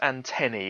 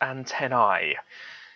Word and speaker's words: antennae: yes it is pronounced antenny it's not antennae it's just when you have a plural that's a e like antenny larvae um vertebrae it's pronounced e it's not a it really annoys me